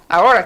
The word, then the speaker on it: Ahora: He's from Ahora Capital. Which I knew I shouldn't say the H.